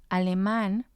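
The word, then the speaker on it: alemán: has the accent let's look at another example aleman aleman means german so aleman has three syllables a because this word ends in n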